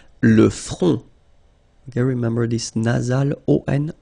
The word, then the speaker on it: le front: Final T not pronounced. Le front.